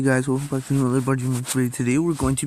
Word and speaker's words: Budgie Marx: It's pronounced Budgie Marx, not Budgie Marx.